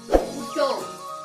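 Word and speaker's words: उठो: ആ ഓ ആവോ വാ ജാവോ പോ ബൈറ്റോ ഉക്കാര് உட்டோ உட்டோ இத உன்னோட உச்சரிப்பு உட்டோ அதாவது எழுந்துருன்னு அர்த்தம் உட்டோ இப்ப இதுல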